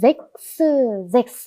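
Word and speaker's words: sechs: 이렇게 체하 S가 나란히 오면 이 체하가 키읔 소리가 나고 S는 스 소리가 납니다. 그래서 여기까지 잭스 하시면 됩니다.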